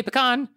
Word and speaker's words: pecan: a regional thing that people say it both ways throughout the united states and the american pecan council says that quote any and all pronunciations are welcome as long as the pecans are being eaten this is i love